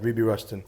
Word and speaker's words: Ruby Rushton: For people who don't listen to jazz much, how would you describe Ruby Rushton? Is that how you pronounce it, first of all? That's right, yeah, Ruby Rushton.